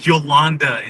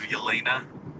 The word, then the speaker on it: Yelena: He says Jolanda instead of Yelena.